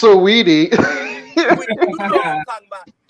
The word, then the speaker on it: Saweetie: women, like Quavo and Saudi, they just broke up. But you see how, like, they can get there nice. It's pronounced Saweetie.